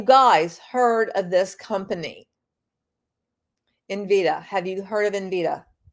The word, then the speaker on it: Nvidia: First of all, he pronounces it incorrectly. It's Nvidia.